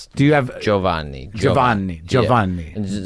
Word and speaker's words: Giovanni: Do you have Jovanni Jovanni? Joan like you say Joe and then Vanie.